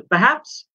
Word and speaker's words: perhaps: তাহলে এখানে প্রথম যে শব্দটা পারহ্যাপস, পারহ্যাপস মানে হচ্ছে হয়তো, পারহ্যাপস মানে হয়তো, এখানে আর এর উচ্চারণটা কিন্তু হবে না, পারহ্যাপস না, পারহ্যাপস, So perhaps I'm not making myself clear.